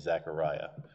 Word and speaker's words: Zechariah: it is zacharias but the hebrew pronunciation of his name is zechariah so um that that's